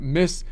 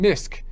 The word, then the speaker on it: MISC: about the 1099 Miss they pronounce it 1099 misk they pronounced the C which is kind of funny I don't know why that is because I think it still stands for miscellaneous and the C is silent I'm thinking possibly it's